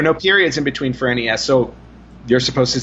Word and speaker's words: NES: I think yeah yeah according to Japan the Nintendo and the NES actually is supposed to be pronounced Ness because we don't know